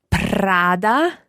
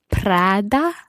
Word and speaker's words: Prada: What about the other one that's spelled Prada? Prada. Prada.